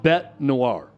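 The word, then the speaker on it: bête noire: It's just um it's pronounced Bet Noir.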